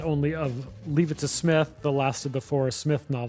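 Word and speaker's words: Psmith: is leave it to Smith and we must always remember that the p is silent as in pterodactyl uh and uh it's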